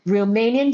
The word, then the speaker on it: Riemannian: Romanian geometry. Okay, so it's a it's it's uh pronounced a little different than it's uh spelled.